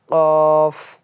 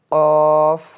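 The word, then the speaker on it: قاف: একদম নিচে এই যে কিভাবে উচ্চারণ করবেন এখানে দেওয়া আছে। কফ কফ কফ দেখেন স্পষ্ট ভাষায় কিন্তু আমাদেরকে জানায় দিল যে এর নাম হচ্ছে কফ।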